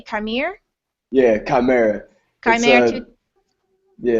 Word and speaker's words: chimera: username how do you say come here yeah chimera yeah it's a piece from Greek mythology okay